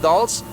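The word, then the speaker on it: dulse: is called dolls d as in Diamond u-l-s-e pronounced dolls and uh the avalonis loved it they are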